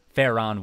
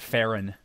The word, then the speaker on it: Faron: back to Faron woods fair on woods I guess I'm probably how I would pronounce it not faring fair on why does she just